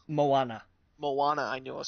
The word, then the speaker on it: Moana: Is it Mona? Moana.